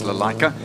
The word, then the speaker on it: Lalaika: We did go and ask, how do you say the surname? And it's Lalaika.